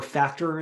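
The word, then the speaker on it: Phpactor: (jim) Have you have you played it all with like PHP actor or "factor", as people might pronounce it.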